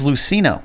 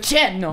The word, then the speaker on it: Luceno: How do you say his last name? James Luceno. Is it Luceno? I'm going to go like with Luceno. Luceno. Yeah, say it like that.